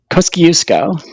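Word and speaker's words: Kosciuszko: the top uh in AUST Australia to mount Kuku kuo did I pronounce that right kusco yes okay thank you what you say that's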